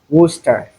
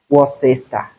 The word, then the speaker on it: Worcester: This word does not have 3 syllables, rather 2. We have Worcester and not Worcester.